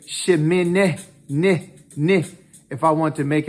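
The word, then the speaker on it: שמיני: sound it's an e so when i say shi min ni if i want to make if i put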